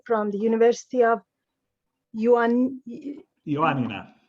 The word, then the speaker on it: Ioannina: yuan ioannina yuanina i i just checked it on internet to find the greek pronunciation because in ottoman documents we call it yanya so it has it it's written as yanya so i would i would say that's what i'd say i wouldn't say iranian i would say myself okay then it's close is closer than the english pronunciation yeah um so actually